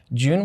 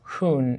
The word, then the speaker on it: Jun: the criteria was june june would have been pronounced as hoon in spanish so that name was